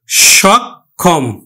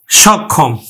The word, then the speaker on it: সক্ষম: সংবৃত উচ্চারণ হবে না আমরা দন্তস উচ্চারণ করি না তালব্য স উচ্চারণ করি এজন্য কিন্তু আমরা তালব্য স লিখলাম সক্ষম সক্ষম আমরা উচ্চারণ করলাম সক্ষম এখন দেখো আদ্য ও